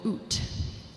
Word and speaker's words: ut: So the first line of the chant started with the syllable oot. Oot. On the microphone, but oot, and then the line went on for a while.